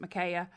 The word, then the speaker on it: Micaiah: I don't know if that's proper or not, but we pronounce it Micaiah.